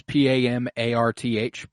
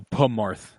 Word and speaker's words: Pamarth: spell that to Marth I believe it's p-a-m-a-r-t-h pamarth okay so it's not just p-m-a-r-th I thought like no pumarth um okay sorry and